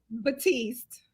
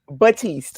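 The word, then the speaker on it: Baptiste: Batiste. Batiste. Okay. So the P is silent.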